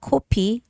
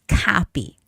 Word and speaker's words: copy: It's not copi or coffee. It's copy. Copy. You have to open up your mouth.